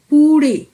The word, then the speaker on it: পুড়ে: আমি আগেও বলেছিলাম ডয় শূন্য রয়ের উচ্চারণ কিন্তু রয়ের মতো নয়, এটা হবে র। জিভটাকে একটু উঠিয়ে নিয়ে বলতে হয় র, অর্থাৎ জুড়ে পুড়ে, শিখর চূড়ে। শিখরে 2টি রয়ের অবস্থান রয়েছে।